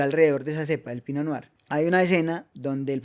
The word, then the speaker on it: Pinot Noir: Y se escribe Pinot Pinot Noir. Pinot Pino Noar. Pino noar.